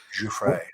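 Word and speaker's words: Giuffre: Fray.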